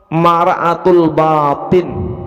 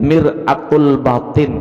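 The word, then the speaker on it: مرآة الباطن: Nah, li'anna zahira mara'atul batin. Nah, karena yang zahir itu cermin daripada batin, mir'atul batin gitu bacanya.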